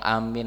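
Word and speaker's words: آمين: Salatnya ya jadi ee yang paling sahih memanjangkan a juga memanjangkan mim Amin Nam ammana bihil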